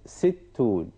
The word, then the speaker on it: ستون: You remember the shadda, which is doubling, the pronunciation of the letter.